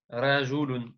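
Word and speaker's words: رَجُلٌ: répondre la aliyun rajulun. Très bien. La Aliyun rajulun. Prononce bien le ra. Rajulun.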